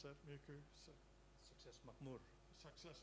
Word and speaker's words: Makmur: Could you pronounce that, Muku? Success Makmur. Success Muku.